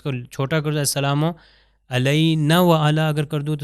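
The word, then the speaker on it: علينا: پہ چلتے ہیں۔ السلام علینا وعلی عباد اللہ الصالحین۔ آپ یہاں پر دیکھیے السلام علینا، عین سے ہے علینا، اور یہ نون الف ہے، اگر میں نون الف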